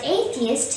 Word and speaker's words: atheist: people are called atheists the word atheist has three syllables a b is atheist the stress is on the first syllable a so say a theist a theist remember an atheist is